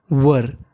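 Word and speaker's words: were: होता है और रितेश वर आप इसे चाहे वेयर बोलिए वर बोलिए कोई अंतर नहीं पड़ता दोनों ही सही माने जाते हैं वर का मतलब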